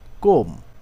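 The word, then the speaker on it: comb: ও এমবি বোম এখানে এম এর পরের বি উচ্চারণ হয়নি বোম অর্থ বোমা বোমা বর্ষণ করা কোম কোম অর্থ চিরনিী আশ্রানো ক্লাইম ক্লাইম অর্থ আহরণ করা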